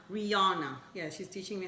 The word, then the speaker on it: Rihanna: this assignment by Rihanna Rihanna not rihana Rihanna yeah she's teaching me